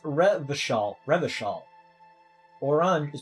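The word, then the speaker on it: Revachol: all around where was I ret all is pronounced reval reval orang is pronounced or classier class or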